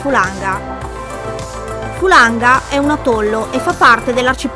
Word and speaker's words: Fulaga: Depuis trois semaines nous sommes ancrés ici : en Fulaga (prononcer Fulanga).